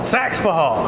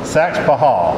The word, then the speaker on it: Saxapahaw: Saxapahaw. And down east, we never put an extra syllable in there. I know, that's cool. Saxapahaw. No, it's that Saxapahaw. That's what the old school cats say.